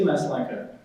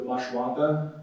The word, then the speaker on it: Maslanka: We say Maslanka. It's Polish. I believe the original pronunciation is something along the lines of Maslanka. There's like a little thingy on the S and a little thing on the L.